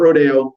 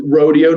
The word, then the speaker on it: Rodeo: we told you yesterday on rodeo drive not rodeo no no no no we're not using that foreign pronunciation it is rodeo drive you say it like americans and that that they're